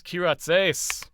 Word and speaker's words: Kyratzes: at the end um just if you if you look at the word and pronounce it with an english or american accent it actually comes out fairly normal it trips people up because they think oh it must be it must be something different what's that what's that